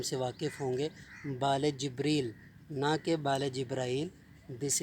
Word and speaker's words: جبریل: کا لفظ ہے جبریل۔ جبریل جس کو ہم جبرائیل کہتے ہیں، یہ جبرائیل نہیں ہے، یہ لفظ ہے جبریل۔ جس طرح سے مثال